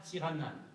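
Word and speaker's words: Tsiranana: Oui, mais on prononce à Madagascar Tiranan.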